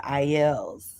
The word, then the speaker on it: Aiel: I think they're the Aes Sedai for the Aiels.